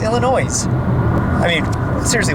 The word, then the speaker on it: Illinois: I think it's pronounced Illinois, right? No. Illinois? No, that sounds correct. Illinois. I mean, seriously, why would the S be silent?